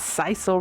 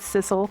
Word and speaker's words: sisal: to wrap around and i said it wrong in my last video you guys it's sisal rope not sissel so i'm correcting it now sisal sisal rope i'm